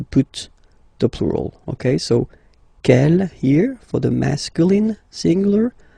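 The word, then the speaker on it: quel: S feminine plural and the good news is that you will pronounce them the same way all right so k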